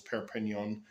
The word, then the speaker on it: Perpignan: Perignon, France. Three syllables. Per penon, France.